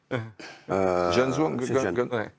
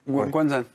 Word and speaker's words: Guangzhou: Comment s'appelle le club chinois où il est Zhenzhou. Guangzhou. Oui, bon, d'accord. Mais ça, c'est la prononciation Guangzhou.